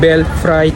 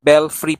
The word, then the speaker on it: Belfry: So this time ita-try naman natin yung bell fry cafe dito sa Intramuros. Bell free pala ang tamang pag-pronounce.